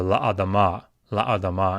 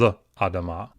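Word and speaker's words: לַאֲדָמָה: So la adama instead of l adama.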